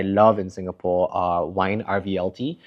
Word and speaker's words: RVLT: in Singapore are wine rvlt I think it's like Revolution but it's spelled rvlt iner case um and